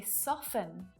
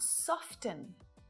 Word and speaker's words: soften: We say soften, not soften.